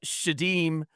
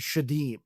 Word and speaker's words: Sheydim: I don't know if it's backwards, but um and then in in uh for I guess with Muslim, the pronunciation is shadim.